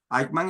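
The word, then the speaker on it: Eichmann: Ik se escribe e i c h m a n. Aikman era el funcionario nazi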